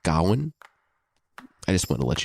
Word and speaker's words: Gawain: is all about GNE which yeah I pronounce gain but I think it's maybe correctly pronounced Gowan I just want to